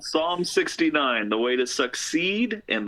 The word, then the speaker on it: Psalm 69: One that none of us can pronounce. Song 69. Yeah, it's called Psalm 69, The Way to Succeed and the Way to Suck Eggs.